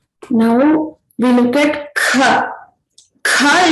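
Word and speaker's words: ख: Kha is pronounced with a mahaprana. You have to expel more air out from your throat when you're pronouncing.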